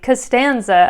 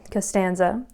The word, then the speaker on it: Costanza: 2 syllables, something like Costanza. I'm just going to go with a Seinfeld theme here. And that has 3 syllables, right? Costanza. And the second syllable is the one that has the natural accent.